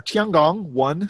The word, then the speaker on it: Tiangong: Speaking of other things made in China, the Chinese have lost control of their Tiangong-1 space station. Did you like that pronunciation I had there? That was authentic.